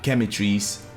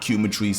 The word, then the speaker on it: Quematrice: Because if you're gonna go que, like I think it's que, right? Like en español, like que pasa, you know what I'm saying? So Chemitrice is how you pronounce that, not Cumatrice like I was saying yesterday.